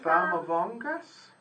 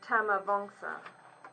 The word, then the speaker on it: Tamavongsa: Famavongas? Is that how you say it? It's a T. Tamavongsa. Oh. Tamavongsa.